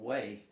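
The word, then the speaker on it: Hue: And then there's Arthur Mark Bowden, who wrote the book Black Hawk Down, wrote another book called Way, 1968. It's spelled H-U-E, Way City, 1968.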